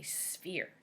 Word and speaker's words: sphere: You might be thinking I'm wrong because it sounds like an F, but I am correct. PH makes the F sound, just like F does.